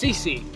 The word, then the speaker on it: CC: CC you know my name CJ right no it's CC my name has two letters ready all right a